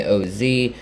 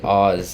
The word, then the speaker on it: Oz: but it's o z it's o z with a period but that's not really